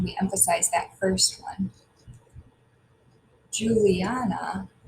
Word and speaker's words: Juliana: emphasize that first one Juliana has four did we say return to be accent should we say Juliana Juliana Juliana Juliana which one is accented if we say it correctly it's Julie and so it's that third syllables at accent so that's the